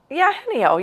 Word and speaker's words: Eugenio: Henio. Yeah, you got it. Now, as I really broke down the syllables.